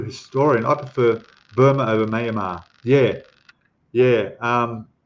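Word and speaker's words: Myanmar: the country um mamar I think it's pronounced mamar not Mayar mamar that's with my Aussie accent and Marvel PX is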